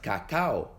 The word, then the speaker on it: cacao: en 2 sílabas, como en las palabras cacao o teatro, donde la A y la O, y la E y la A se separan en sílabas diferentes.